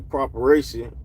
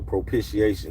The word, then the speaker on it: propitiation: God is whom God displayed publicly as a properation proper properation propation in his blood.